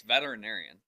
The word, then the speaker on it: veterinarian: think that when you say it quick, you skip over the inarian. I don't think so. I mean, that's how it's spelled. You say veterinarian? That's what you say. Say it again. Veterinarian. Veterinarian. Yeah, but the inarian, the the the RIN part gets kind of like, it's fast.